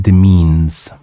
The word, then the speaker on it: demesnes: Oh, the S is silent. This word, the S are silent. So it's pronounced demeans. It's like this S doesn't exist. Upon his own demeans.